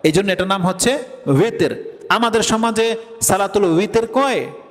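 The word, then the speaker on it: وتر: যেহেতু নামাজটা বেজর সংখ্যায় পড়া হয়, এই জন্য এটার নাম হচ্ছে উইতের। আমাদের সমাজে সালাতুল উইতের কয় নাকি বেতের নামাজ বলে? অত উচ্চারণটা কি? উইতের, ওয়াও দিয়া উইতের, কিন্তু আমরা বলি বেতের, ঠিক আছে না?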